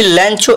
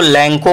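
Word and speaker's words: Lencho: Second sentence है लैंचो इज a farmer, यानी लैंचो एक किसान है। कुछ लोग इसको लैंको पढ़ते हैं, कुछ लोग लैंचो पढ़ते हैं, जो भी प्रोनाउंसिएशन हो आप बोल सकते हैं, कोई दिक्कत नहीं।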